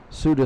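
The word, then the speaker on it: Siuda: Suda spelled S-I-U-D-A.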